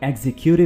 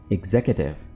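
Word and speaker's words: executive: कुछ लोग इसको एग्जीक्यूटिव प्रोनाउंस करते हैं, जो कि बिल्कुल गलत है। आप इसको प्रोनाउंस करेंगे एग्जीक्यूटिव, एग्जीक्यूटिव।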